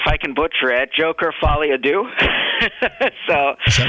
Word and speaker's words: Folie à Deux: time, and I have no idea how to pronounce it. How do you say it? Let's see if I can butcher it. Joker Folie à Deux.